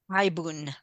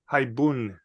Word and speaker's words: haibun: How do you pronounce it? Haibun. Haibun. Okay. Haibun.